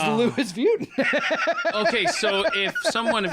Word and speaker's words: Louis Vuitton: people calling and going i think i've been pronouncing it wrong because the headquarter says the louis vuitton okay so if someone if you're listening right